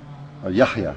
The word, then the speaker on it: Yahya: Yahya.